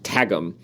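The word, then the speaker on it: Qwghlm: to the narrator of the audio book is pronounced tagum I have always in my brain it was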